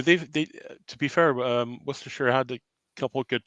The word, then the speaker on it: Worcestershire: well i don't disagree nathan just um yeah worcestershire they um see that's how you say it